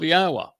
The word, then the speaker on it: Yahweh: And therefore it tells us how to pronounce the first and last syllable of Yahwa. Yah and ah. The o sound comes from the wah.